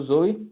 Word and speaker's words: Zowe: É pronunciado como Zoe, tá?